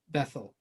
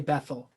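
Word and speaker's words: Bethel: but we usually say bethl but there's no th sound in Hebrew that's uh there's an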